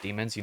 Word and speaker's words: DMNS: on called Demons, but it's spelled DMNS, but you can tell it's supposed to be pronounced Demons, the whole modern metalcore type of thing.